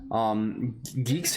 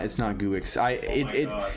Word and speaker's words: Guix: Yeah, it's pronounced geeks. It's not Guix.